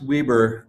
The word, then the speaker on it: Weber: yeah well uh and it's pronounced Weber it's not like the grill it is Weber State well it was